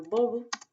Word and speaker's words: bobo: Entonces es importante porque tenemos palabras que son iguales, son muy parecidas y que cambia todo por la pronunciación. Por ejemplo, bobo significa lo mismo que en español. Uh, y vovo, que significa abuelito. Entonces, ven que ahí hay una diferencia importante. Bobo, vovo, vovo, bobo, vovo.